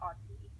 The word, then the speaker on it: Auti: If you forget, it's like auto, but spelled Auti with an auto spelled with an I.